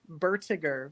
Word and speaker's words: Bertiger: And it's pronounced Bertiger, which you don't hear the O.